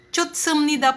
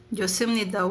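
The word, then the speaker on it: 좋습니다: Pero kapag daw po si H sinundan ng S, ang kanyang pronunciation ay magiging silent. So baka sabihin niyo kasi dito is maging chutsumnida po yan. Hindi po. Since magiging silent po siya, magigingumnida. Josumnida.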